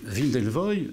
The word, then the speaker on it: Wim Delvoye: Et Wim Delvoye, je le prononce à la française, mais je vous en prie.